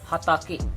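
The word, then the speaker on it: 畑: Our first meaning is if we are writing this kanji alone without any prefix or without any suffix, then we will pronounce it ha ta ke, hatake, which means a cultivated field.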